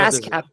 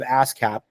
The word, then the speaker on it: ASCAP: ASCAP. ASCAP. It is ASCAP. That's how they say it in Nashville, anyway.